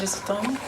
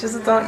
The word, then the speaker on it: Jesuton: So my name is Jesuton. That's how you pronounce it. I've been wondering. Oh yeah, it's Jesuton.